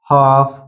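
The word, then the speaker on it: half: देख लेते हैं कफ कफ यानी कि एफ से पहले एल कब साइलेंट रहता है तो जैसे कफ हाफ यह दो वर्ड आप देख सकते हैं यहां पर फफ से पहले एल आया है इसलिए एल साइलेंट है इस वर्ड में भी आप देख सकते हैं एफ से पहले एल आया है इसलिए एल साइलेंट है सीधा पढ़ा गया है हा नेक्स्ट है के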